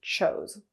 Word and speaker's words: chose: Now the difference is now it's past tense, and the verb in its past form only has 1 O and is pronounced chose.